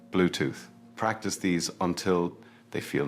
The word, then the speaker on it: Bluetooth: And finally, Bluetooth. Make sure you pronounce the 3 at the end clearly with your tongue between your teeth. Bluetooth.